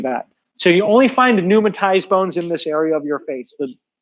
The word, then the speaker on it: pneumatized: This next one is called pneumatized. The P is silent.